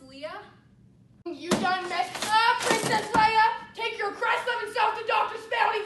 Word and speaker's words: Leia: time Princess Leia um it's pronounced Leah take your crest of